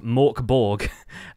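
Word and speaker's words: Mörk Borg: mkb which is uh more accurately pronounced in British English as Mor Borg um it's a really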